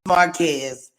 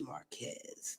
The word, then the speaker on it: Marquez: Okay, it's Marquez. I believe I said that before. It was Marquez.